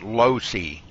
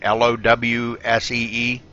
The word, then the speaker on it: Losey: It's pronounced Losey, like Lowsee.